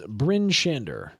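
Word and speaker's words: Bryn Shander: Next town that we're going to talk about is Bin Shander.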